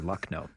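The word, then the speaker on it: Lucknow: when we pass through Luckno. I'll I'll sh I can't share it on the air, but it's a word that rhymes with luck.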